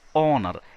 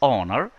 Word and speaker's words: honor: It is honor. H is silent. So we say an honor, which is definitely a vowel sound.